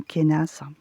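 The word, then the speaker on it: Kenaz: Donc ça c'est pas moi, c'est pas une prononciation que que j'utilise. En général, je dis Ken ou Kenas.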